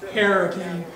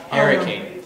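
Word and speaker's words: Harricane: But there was an area west of town that was known as the Hurricane, and that's spelled the way it's pronounced, with a hard H-A-R-R, Hurricane. Hurricane.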